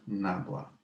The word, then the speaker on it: nabla: symbol nebula yeah and the symbol is pronounced as uh nabla well let's write it